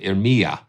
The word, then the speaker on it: Iremia: And this is laid out just like the viola, as far as Iremia. Okay, there we go. So accent on the me. Okay, good. Iremia.